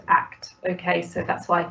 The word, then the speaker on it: ACT: Oh, and I forgot to say at the beginning, acceptance and commitment therapy is known as and pronounced ACT.